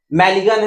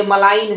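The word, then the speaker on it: malign: आपका सामने आता है ऐसे ही मैलिन है तो ये मलाइन है नहीं तो मैलिन होता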